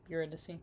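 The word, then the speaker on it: Eurydice: Uridy. Uridy. Uridicy. Uridicy.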